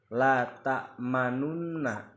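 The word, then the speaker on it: لا تأمنّا: membaca lunna akan tetapi pada bacaan ini kita hanya membaca lna tapi memasukkan unsur domah yaitu apa memoncongkan bibir kita supaya seakan-akan membaca huruf nun domah kepada sukun Jadi dibacanya la tamna la tamunna lana lana Yusuf kemudian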